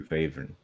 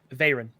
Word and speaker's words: Varen: Varen or Vavren? Varen is the pronunciation.